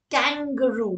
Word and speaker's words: kangaroo: It's kangaroo, not kangaroo. Kangaroo. Remember the second A is like a schwa that I talked about earlier.